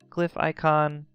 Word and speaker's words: glyphicon: we're gonna say is this glyph icon or glyphicon depending how you pronounce it and then another glyph